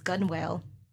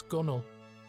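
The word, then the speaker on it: gunwale: stones stowed Solace gun what what's gun whale it's a dark abys or tunnel strewn with stones stowed Solace gunnel Islington and Isle of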